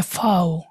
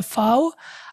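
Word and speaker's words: Vau: বলে আবার বলে উ, ভিটাকে ওরা বলে ফাও, ফাও, এফ এর মতো একটা উচ্চারণ হয়, ভিটাকে বলে ফাও, আর ডব্লিউ যেটা ওইটাকে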